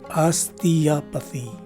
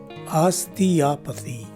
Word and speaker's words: osteopathy: sound and finally the letter y at the end of the word takes a long e sound so the right way to say this word is osteopathy again osteopathy this is the 12th